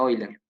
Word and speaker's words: Euler: esto hoy le digo euler que se pronuncia hoy le sí bueno bueno sigan